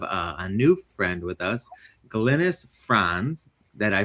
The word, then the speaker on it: Glynis Franz: Uh, I'm Johnny and today we are very fortunate to have a new friend with us, Glennice Fron that I pronounced correctly.